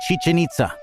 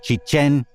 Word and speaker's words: Chichen: by its correct name most people say Chichen with the accents on the first syllable of both words the name is Chichen accented on the second syllable and we'll use that